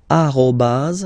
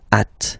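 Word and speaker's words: arobase: the other one so officially we called it arobas arobas okay but then well let's be honest we can hear many French people or French speaking people using this at okay uh but then the French of course at all right but officially it should be arobas okay so don't be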